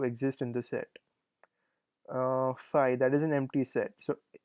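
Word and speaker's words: φ: of rational numbers, and this is called phi, pronounced as phi, which is the empty set.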